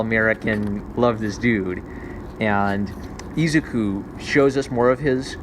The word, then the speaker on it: Izuku: So All Might shows up and saves Izuku. Am I saying it right? Gosh. Izuku.